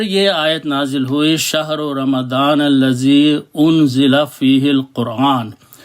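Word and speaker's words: رمضان: एक बात और है हम लोग इसे रमजान रमजान बोलते हैं उर्दू में लफ बिगाड़ दिया है असल लफ्ज है रमदान तो मैं उसी तरीके से प्रोनाउंस करूंगा यहां पर अल्लाह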